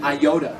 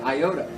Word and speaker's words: iota: t y all right most people would pronounce that aoda I used to pronounce it Iota but the short I makes the sound of e short I makes a e sound like P the best